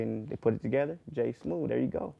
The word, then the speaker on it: J Smoove: you go J smooth how you spell that man it's JSM o o v e you know what I'm saying o e so don't type in th like a smoothie smooth smooth and the thing is